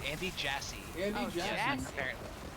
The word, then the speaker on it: Jassy: I imagine he's like, oh, it's pronounced JC. Like, no, you have ass in your name.